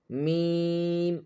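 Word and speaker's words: ميم: Then Mim. Mim. Mim is pronounced by closing both lips. The nasal sound comes from the nose.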